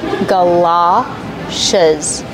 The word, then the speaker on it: galoshes: Ga, like up and cup, gala. It's an open sound, like stop and hot, galoshes.